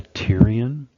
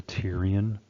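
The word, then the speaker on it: pterion: The tyrion that P is silent. So it's the tyrion suture is the junction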